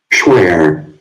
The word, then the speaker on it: Schware: Pursuant to the very same case, Schware, I don't know if I pronounce that. Hold on. I have some words where, Schware.